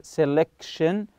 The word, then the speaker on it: selection: Number six, job selection, same thing here, selection is one of the most important decisions, so the CI is stressed here.